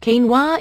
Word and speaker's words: quinoa: Quinoa, pronounced quinoa, is a nutritional all-star that belongs in your weight loss plan.